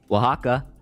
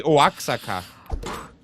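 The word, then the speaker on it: Oaxaca: That's got to be one of the I mean, outside of everything that is French, it's got to be one of the most inobvious ways to pronounce a place based on how it's spelled.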